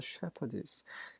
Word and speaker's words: shepherdess: 왜냐하면 she was a shepherdess. 그 라헬의 그 직업은 목동이었어요. 여자 목동 shepherdess. PH가 F 발음이 아니라 P 발음입니다. shepherdess.